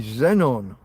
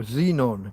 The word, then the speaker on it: xenon: table atomic number 54 is Zenon or Xenon depending on how you prefer to pronounce it a dense colorless